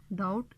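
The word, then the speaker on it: doubt: अब नोट का के, डाउट का बी और राइट का डब्ल्यू जो है वो यहाँ पे इनकी आवाज़ जो है वो साइलेंट है, यानी कि इनकी आवाज़ नहीं आ रही, ये म्यूट लेटर्स हैं।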